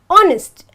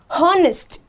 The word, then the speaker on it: honest: I'll tell you why when I pronounce the word honest I have to say honest and not harnessed so automatically this becomes